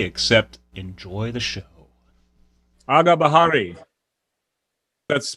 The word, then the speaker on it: Agah Bahari: Agah Bahari. That's pronounced correctly?